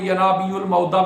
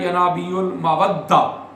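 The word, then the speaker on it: ینابیع المودة: ہاں ہے وہ ہے ینابیع المودہ لذوی القربہ، ٹھیک ہے، 2 طرح سے پڑھتے ہیں ہمارے برصغیر میں، ینابیع المعودہ، اور جو درست لفظ ہے جو مصر میں پڑھا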